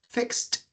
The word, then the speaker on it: fixed: yes and it's correct because when you pronounce fix the last sound that you're pronouncing is the S sound well it's the k s sound fixed okay let's continue with the